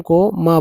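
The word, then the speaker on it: calm: तो सी एल एम काम नॉट कि काल में काम का मतलब शांत तो काम नॉट काल पाम है ना पाम भी बोलते हैं।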